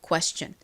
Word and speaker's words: question: 소리가 나죠 그래서이 단어 읽어 보면요 Question이 됩니다 Question 따라해 보세요 Question 한 번 더 해볼게요 Question